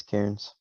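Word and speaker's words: cairn: i ns I don't necessarily know how to pronounce that word yeah it's Karen yeah it's a also a thing in Assassin's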